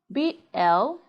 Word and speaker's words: blue: But when UE comes after letter L, as in blue, blue, you say blue, not blue.